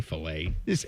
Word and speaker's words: filet: You just say filet. It's a filet, yeah. But the strip and the ribeyes are great. No, the British people just pronounce the T.